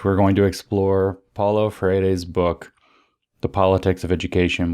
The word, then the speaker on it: Freire: Update, I bothered to learn how to pronounce Freire's name. It's Freire, not Freire or whatever. It's Freire. He's Portuguese. I'm Brazilian, but the name is in Portuguese.